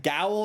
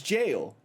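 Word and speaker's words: gaol: got this one uh gowl or whatever is jail yep jail shout out Final Fantasy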